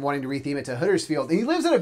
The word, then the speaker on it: Huddersfield: Americans would usually say like Huddersfield. We say Huddersfield. Huddersfield. We say Huddersfield like that.